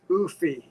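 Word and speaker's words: eufy: what are you putting on i think it's pronounced oofy it's e-u-f-y and right now if you look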